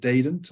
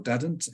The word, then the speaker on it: Dadant: all my Highs are I think you pronounce it daedant or Dadant in in America um in French